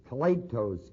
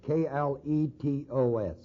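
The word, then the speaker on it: κλητός: This word here in Romans 1:1, the word called, is the Greek word kletos, K-L-E-T-O-S, or kletos.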